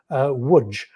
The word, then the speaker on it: Łódź: And when the Soviet offensive began, he was ordered to move his corps to the Polish city that I'm reliably informed is pronounced Łódź. It's spelled L-O-D-Z, but the pronunciation of Polish is something that I find quite challenging.